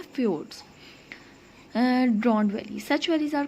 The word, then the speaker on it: fjord: अच्छा, नेक्स्ट है हमारे पास फ्योर्ड। मैनी माउंटेन रेंज, यहाँ पे जे साइलेंट रहेगा, ठीक है।